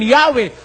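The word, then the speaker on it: Yahweh: we have retain Jehovah Although inclining to view the pronunciation yahwe as the more correct way we have retained the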